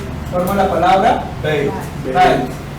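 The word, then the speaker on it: בית: Se pronuncia bit, bet, Así como está. Beit. Ahí está la pronunciación.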